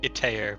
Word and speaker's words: Itaer: I usually pronounce it Itaer, but Itaer.